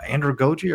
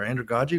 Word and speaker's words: andragogy: And we thought it's great time to bring up Malcolm Nolles, his theory of uh androgoi or androogi, whichever way you prefer to pronounce it.